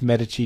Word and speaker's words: Medici: work for against the Medici I know it's pronounced Medici don't run it i I can't remember actually